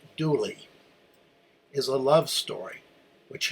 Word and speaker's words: Dula: The story of Tom Dula, pronounced Dooley, is a love story